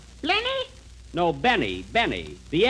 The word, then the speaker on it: Benny: is this please this is Jack Benny Jack blenny blenny no Benny Benny the L is silent in there now look we want you